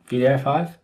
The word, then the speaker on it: wdi5: VDI5, which is spelled WDI5 but pronounced VDI5, is open source and already available on NPM.